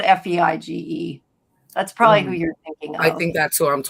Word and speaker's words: Feige: Um, just Kevin Feige.